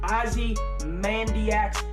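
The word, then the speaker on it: Ozymandias: episode but in the last three episodes really Ozzy Mandy acts that's how you pronounce it when they have the shootout in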